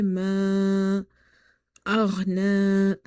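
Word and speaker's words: مَا أَغْنَى: Okay, so you will say ma aghna.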